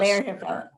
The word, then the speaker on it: Lerer Hippeau: Lerer Hippeau.